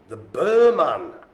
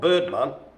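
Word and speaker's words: Birman: Here is the Burman. Not Birdman. Burman.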